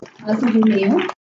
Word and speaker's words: Alfa Romeo: Alfa Romeo.